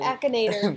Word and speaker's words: Akinator: Akinator.